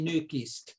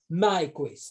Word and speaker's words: Nyquist: So in Swedish, he should be Nyquist, but in America, Nyquist. So it is up to you that you would like to have a Swedish or the American pronunciation of his name.